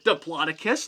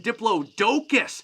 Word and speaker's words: Diplodocus: kinds of different languages sometimes I hear Diplodocus like I like to say or I even hear Diplo docus or even Diplo dokus so each one is correct and you can't mispronounce some of the those dinosaur names just like Diplodocus or Diplodocus or Diplodocus and you guys are just all correct they're totally awesome now